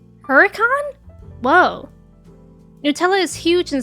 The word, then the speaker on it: Hurricane: You've heard foyer, but you also live in Utah that has a town named Hurricane, but officially pronounce it Huracan. Huracan.